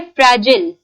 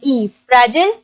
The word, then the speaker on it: fragile: नाजुक के लिए एक और इंग्लिश में वर्ड होता है जो हम अच्छा इसकी भी प्रोनाउंसिएशन लोग अक्सर गलत करते हैं। वर्ड है फ्रैजिल, FRAGILE, फ्रैजिल या फ्रेजाइल भी बोला जा सकता है।